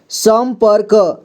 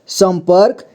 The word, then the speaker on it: संपर्क: है सम भाल संभाल संपर्क संपर्क यहां पर भी ऊपर में र की मात्रा लगा है संपर्क ठीक है संपर्क पढ़ेंगे यहां देखिए संशय